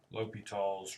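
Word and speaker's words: L'Hôpital: a section on something called uh low low l'hopital's rule it's pronounced L for Lope and then more like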